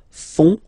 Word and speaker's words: font: And ils, plural, font, final T not pronounced, font, font, elles font.